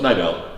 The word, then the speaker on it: Niddel: podcasters in the world, consistently top 10, Ryan NIDDEL. And am I pronouncing that right? Close, NIDDEL.